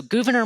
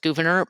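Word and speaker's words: Gouverneur: So, Gvenor Morris and you know there's debate about pronunciation of his name. I generally just go with Gvenor but uh I've heard multiple different options there.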